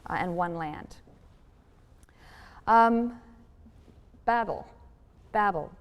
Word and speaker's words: Babel: one land um babel babel pronounced bavel in hebrew is babylon the tower